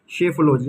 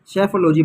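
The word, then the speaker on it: psephology: है दोस्तों अब देखिए इसका जो प्रोनाउंस एशन बनेगा वो बनेगा सेफोलॉजी क्या बनेगा सेफोलॉजी याद कीजिएगा पी सेलेंट रहेगा सेफोलॉजी बनेगा इसका मतलब क्या होता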